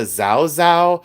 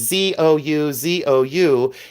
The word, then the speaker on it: Zouzou: I call it the Zao Zao. Sometimes it's Zuzu. Sometimes they pronounce it differently, but it's Zouzou.